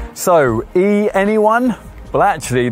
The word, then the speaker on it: e:Ny1: thank goodness so e anyone well actually this Honda's name is supposed to be pronounced en n y1 uh that acronym is